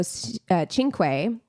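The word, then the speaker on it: Cinque: Anu Singh and Joe chinu had to write that out phonetically because it doesn't look like it's pronounced that way it is so Anu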